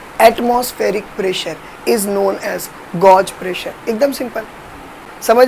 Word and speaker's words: gauge: समझ में आया, गौगे प्रेशर समझ में आया, अरे समझा, ये गॉज प्रेशर, यही है ना स्पेलिंग, गॉज प्रेशर।